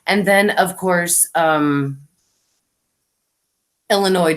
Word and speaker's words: Illinois: then of course um Illinois don't pronounce the S at the end Thank You Melinda let